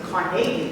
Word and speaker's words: Carnegie: Andrew Carnegie, is the way to pronounce it.